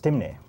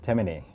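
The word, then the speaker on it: Temne: I was out there, and I lived among the people that known as Timne. Timne. Timne, T-E-M-N-E. T-E-M-N-E. In Carriacou, they pronounce it Temene.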